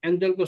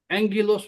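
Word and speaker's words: ἄγγελος: अनि त्यसको उच्चारण चाहिँ एन्जल हुदैनन्। एङगिलोस हुन्छ।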